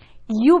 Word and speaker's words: ewe: चलो पहले ये रीड करो और देखो तो। यू बेटा प्रोनाउंसिएशन EWE का यू होगा, खाली यू।